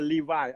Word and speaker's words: Levi: Levi, like the pants.